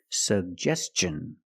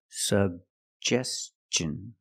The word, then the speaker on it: suggestion: Suggestion. And T-I-O-N, the T makes the ch sound. So together, suggestion. Suggestion. Put the stress on the second syllable.